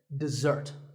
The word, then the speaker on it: dessert: with a Z sound we stress the second syllable dessert this word refers to